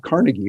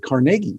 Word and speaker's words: Carnegie: they pronounce it not carnegie but carnegie because he's from scotland and that's the way they did it well he was a